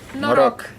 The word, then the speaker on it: Noroc: Noroc.